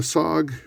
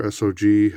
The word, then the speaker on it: SOG: The SOG, or SOG, however you want to pronounce it, it's cool.